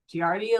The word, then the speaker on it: Giardia: The trick to pronouncing Latin names is just say every vowel and say it with confidence. So I sometimes stumble, forgive me, but just go Giardia. So every vowel. Lambelia. So Giardia lambelia.